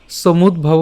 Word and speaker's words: সমুদ্ভব: এখানে একটু খেয়াল করি, আমরা সমুদ্ভব উচ্চারণ করলাম, অর্থাৎ সমুদ দ হসন্ত পর্যন্ত উচ্চারণ করলাম এবং বাকি থাকলো হচ্ছে ভ এবং ব বিসর্গ, সো ভব। ঠিক আছে, কাম এষ ক্রোধ এষ রজগুণ।